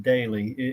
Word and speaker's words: Doelle: it feels rude but my last name is pronounced daily even though it's spelled extremely odd I do AP okay